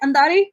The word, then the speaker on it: Andary: say my last name did i say it right andari no no you said it right but i like that